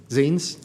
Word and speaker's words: zines: I always get this wrong. It's either zines or zines. I never say it right. 22 zines. It's zines.